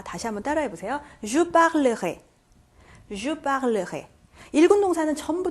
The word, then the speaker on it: parlerai: Je parlerai. Je parlerai. 1군 동사는 전부 다 여기 발음이 변하게 됩니다.